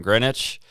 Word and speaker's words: Greenwich: how they said it it's greenwich but it's spelt with a w in the middle london um they drive